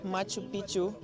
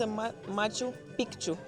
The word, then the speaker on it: Machu Picchu: Also, I don’t know if you knew, but it’s pronounced Machu Picchu in Spanish because the first c is silent. But in the Quechua language, it’s pronounced Machu Picchu because first, we have